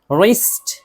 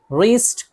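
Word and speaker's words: wrist: तो ज़्यादातर तो यही है कि शुरू में जो है डब्ल्यू और आर हो तो डब्ल्यू को नहीं पढ़ते हैं। जैसे राइट, राइट लिखना। Ring, ring मरोड़ना। रिस्ट, रिस्ट कलाई।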